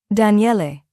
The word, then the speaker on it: Daniele: Daniele. He pronounced it carefully, all 3 syllables distinct.